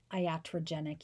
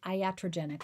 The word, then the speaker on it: iatrogenic: neurological disease and then the next etiology is iatrogenic etiology this is voice disorders iatrogenic let me spell that for you i-a-t-r-o-g-e-n-i-c iatrogenic this is voice